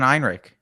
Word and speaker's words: Ehrenreich: wait, oh, that's eh, Alden Ehrenreich.